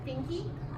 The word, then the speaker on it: Finke: Her name is Beth Finke, rhymes with stinky.